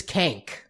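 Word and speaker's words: Kaink: Yeah, Kank. I just She wore a hat. That's all I know. rhymes with skank.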